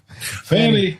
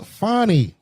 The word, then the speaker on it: Fani: to your heart TR Fanny Fanny Willis fonnie fonnie I've realized I've been pronouncing This Woman's name wrong or fonnie Willis that's what Dad that's what a dad